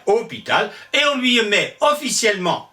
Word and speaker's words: hôpital: évidemment au 12e siècle hospital le s se prononce de moins en moins on allonge le haut ça devient hôpital et on lui met